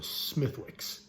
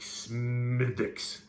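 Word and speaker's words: Smithwick's: like it's not smith you don't pronounce the w apparently like s mythics smythics something like that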